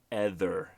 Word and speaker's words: ether: a bit different because they said ether like tether without the T so it's not a hard th sound guys I think that